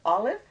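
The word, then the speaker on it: aleph: will happen in Hebrew first letter of the alphabet is olive pronounce it like that and it only takes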